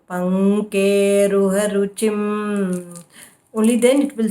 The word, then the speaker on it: पङ्केरुहरुचिम्: Panke, k should be full. Pankeruharuchim.